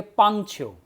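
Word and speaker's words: 棒球: ऐसा ही एक और वर्ड आता है बेसबॉल, बेसबॉल को कहेंगे पांगछ्यो, PAANG, पांग छ्यो, ये हो जाएगा बेसबॉल। और PAAN, इसमें पीछे जी नहीं आया, पांछ्यो, ये हो जाएगा क्रिकेट।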